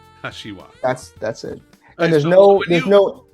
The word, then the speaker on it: Kashiwa: So it's the A's are long in Japanese. So ka and wa are the same. And the SHI in the middle is a shi, Kashiwa. Kashiwa.